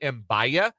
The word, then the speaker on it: Mbia: I have heard Mbaya. There was no pronunciation guide offered in the KU press release, but I think it's Mbia. Yesterday on the show, Michael Swain said Mbia. So we'll go with that as the in-house pronunciation until we hear differently.